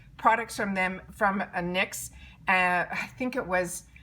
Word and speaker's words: NYX: the professional the nyx n yx and it's pronounced nyx professional makeup butter gloss they're saying this butter